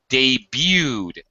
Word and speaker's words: debut: Uh, one other word, Ishmael, uh, you had a little problem with debuted, another French word. Everyone has problems with the French words, understandably so. Um, debut. Yeah, the T is silent.